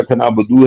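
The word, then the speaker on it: نعبد: गलत बोलते हैं, हाँ, या खनाबुदू है, बदो नहीं है, वो हाँ, हमेशा गलत बोलते हैं, या खनाबुदू है या नस्ताइन।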